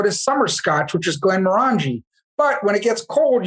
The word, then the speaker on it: Glenmorangie: You have to go to summer scotch, which is Glenmorangie.